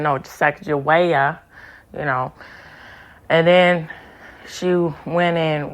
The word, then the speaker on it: Sacagawea: So anyway, when she was correcting Ben Stiller's character, she said, he was saying it, how it's colloquially pronounced, but she said, no, Sacagawea, and then she went in with the aspect of emphasizing, she was the ultimate single mother or so, right?